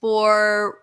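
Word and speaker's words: Boricua: Pronounced Boriqua. Roll the R.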